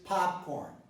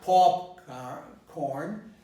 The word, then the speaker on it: popcorn: stress the Gretsch stress is on the first syllable so it is popcorn I'm pronouncing this with the AH within hop so it's that popcorn I'm seeing popcorn well